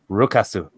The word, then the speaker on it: Rukasu: You gotta say it right. It's Rukasu.